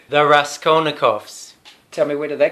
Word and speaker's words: Raskolnikovs: absolutely out of context well first of all pronounce the band name correctly there Raskolnikov's tell me where do they come from crime